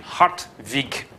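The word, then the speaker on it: Hartwig: probably like an n hot week I suppose you could also spell it with a V if you want to get the right pronunciation hot week he is appointed Russia's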